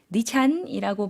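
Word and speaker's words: ดิฉัน: ด ิ ฉ ั น 네, 니찬이라고 발음해 주셨는데요. 는 내려가는 일성 발음이고요. 잔이라는 거는 삼성과 같이 올라가는 발음으로 해주시면 되겠습니다.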